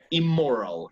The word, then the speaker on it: immoral: Yes, but let's pronounce it only with the M. Pronunciémosle solo con la M. Immoral.